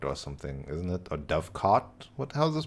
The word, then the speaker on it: dovecote: But also I haven't actually drafted the dove coat yet, right? So I should. It's dove coat or something, isn't it? Or dove cot? How's this pronounced? Dovecote.